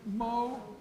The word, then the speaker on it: Moen: how to pronounce it Moe Richard so it says it's Phyllis moment in parentheses pronounced moe and so very briefly